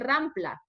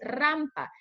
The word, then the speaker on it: rampa: Otro ejemplo bastante típico de pronunciación es decir rampla. Voy a subir por la rampla, pero no es rampla, es rampa. Entonces, ¿qué sucede?